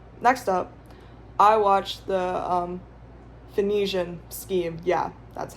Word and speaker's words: Phoenician: Next up, I watched the Phoenician Scheme.